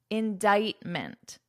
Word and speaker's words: indictment: talk about this word notice the pronunciation indictment indictment indictment the spelling and the pronunciation are quite different now indictment this is